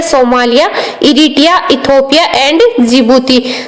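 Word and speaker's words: Djibouti: ये डी से स्टार्ट होता है लेकिन इसको प्रोनाउंस जिबूती किया जाता है, डी है वो साइलेंट रहता है।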